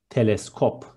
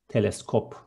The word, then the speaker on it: teleskop: Next one, telescope is teleskop. Instead of C, there is K, and it is teleskop.